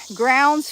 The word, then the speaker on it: Grounds: the live there is grounds Family Farm grounds rhymes with crowns or Browns or Downs or or something dad's